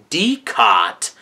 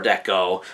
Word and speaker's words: Decot: it appears that it's pronounced as Deco with the T at the end being a silent T but anyways uh um